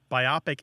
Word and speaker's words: biopic: I and the O It's divided between the O and the P um i' estimate about